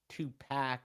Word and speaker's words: Tupac: he was there for Tupac's two pack as I'm told to pronounce it two packs autopsy he